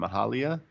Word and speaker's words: Mahalia: and Mahalia did a song called Pretty. Anyone hear This this? was good. Yeah. This was chill. yeah. Big fan of. I don't know how to pronounce her name. Mahalia.